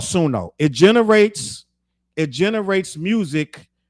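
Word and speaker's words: Suno: Timberland works for a company called Sono. It's called Sununo. I was saying it wrong on my whole video.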